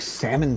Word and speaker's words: salmon: couldn't pronounce the uh couldn't pronounce salmon correctly they would put the L there no matter how hard she tried no what was that